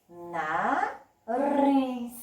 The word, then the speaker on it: nariz: Nariz. Qual foi a sílaba que eu falei com mais força? Exatamente, o riz.